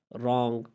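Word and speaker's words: wrong: अगर किसी लफ्ज़ में डब्ल्यू आए और डब्ल्यू के बाद आर आए तो डब्ल्यू को हमेशा साइलेंट पढ़ा जाएगा, खामोश किया जाएगा, साइलेंट होगा डब्ल्यू।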